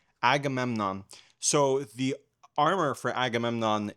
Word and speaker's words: Agamemnon: I I think it's pronounced Agamemnon. Agamemnon.